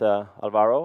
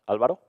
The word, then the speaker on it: Alvaro: hopefully exciting for you my name is Alvaro or in Spanish Alvaro whatever you can pronounce it i'll probably answer anyway